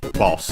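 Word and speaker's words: ボス: Uh as I was mentioning uh boss from English boss uh should be accented on the first syllable.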